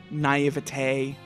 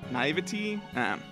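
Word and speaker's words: naïveté: I know how to pronounce naive, but not the other one. Naivete. Not naivety?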